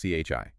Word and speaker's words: qi: So like these key coils we've seen and just so everyone knows it's key pronouncedqi. Correct. Chi.